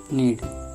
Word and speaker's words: knead: और दूसरा शब्द है KNEAD, नीड। इसमें यहाँ पर के साइलेंट है, इसका मतलब होता है